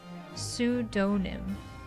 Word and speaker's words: pseudonym: Did I say it wrong again? Pseudonym. Oh, pseudonym.